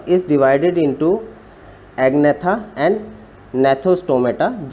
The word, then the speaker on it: Gnathostomata: This subphylum is divided into Agnatha and Gnathostomata. G is silent here. Gnathostomata is further divided into two superclass.